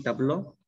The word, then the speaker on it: tableau: Y si escribo sí, tabló, es singular. Pero ambos se pronuncian tabló.